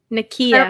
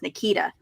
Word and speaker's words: Nakia: Or at first, for a long time, I thought it was she pronounced as Nikita. Oh. But I'm pretty sure it's Kia.